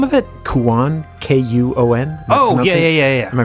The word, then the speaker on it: Kuon: Kuon. K-U-O-N. Oh, yeah. Am I pronouncing that wrong?